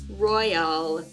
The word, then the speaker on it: Royale: Today, we are doing 2013 Crown Royale football. Yes, it is Royale, at least for me. There's an E at the end of it, so we're gonna pronounce it like we're British today.